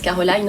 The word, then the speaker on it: Carolyne: Caroline, donc avec un Y, ça se prononce Caroline en anglais.